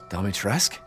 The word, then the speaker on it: Dimitrescu: Dimitrescu?